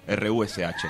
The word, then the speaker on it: Rush: Pero lo escribimos como se pronuncia en rosarino, R-U-S-H, Rush.